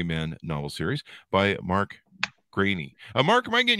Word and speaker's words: Greaney: when people mispronounce it but it is grainy yeah okay sounds good